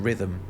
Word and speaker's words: rhythm: French, that h isn't being pronounced. So, ultimately, the h in rhythm, it isn't doing anything.